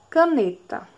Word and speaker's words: caneta: Caneta. Caneta. Caneta. Escutem aí, tentem identificar qual é a sílaba mais forte. O ca, o ne ou o ta? É o ne.